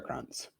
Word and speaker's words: Kranz: Der Kranz? Krantz? Is it a krantz? Yeah, you're right the first time. It's der Kranz.